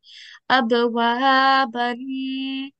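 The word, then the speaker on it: أبوابا: So in continuation, this example we read, abwaban. But when we pause, this will be read, abwaba.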